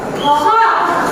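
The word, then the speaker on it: خ: Ini adalah huruf kha. Kha itu ditenggorokan. Kha. Coba dia bilang tenggorokannya sampai tenggorokannya bergetar. Kha. Coba Mbak. Kha.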